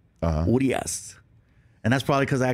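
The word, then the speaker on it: Urías: Urias. Urias, and that's probably because I got to throw the pitch at him.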